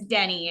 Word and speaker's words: Denny: No, it's Denny is how you actually say it.